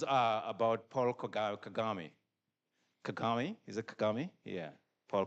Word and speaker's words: Kagame: Kagami.